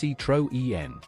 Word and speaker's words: Citroën: In 1935, Michelin took control of Citroën, pronounced Citroën, automobiles.